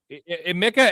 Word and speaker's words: Emeka: It's Emeka. Yeah. How do we pronounce it? It's Emeka.